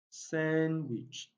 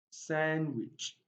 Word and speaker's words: sandwich: word you discover that letter d is not pronounced silent and k chief sandwich sandwich adjacent adjacent adjoin and adjust now you discovered